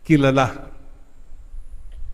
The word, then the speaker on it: kilala: Marami sa atin po, kilala. You're known. Kilala. Apo, sa last syllable, ang stress.